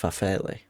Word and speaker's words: farfalle: I might have had it in one of those like cheap little, pronounced farfalle.